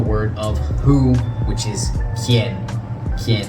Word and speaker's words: quien: So first things first, we have the word of who, which is quien. Quien. Anytime you see this QU, it's going to be pronounced as a K sound.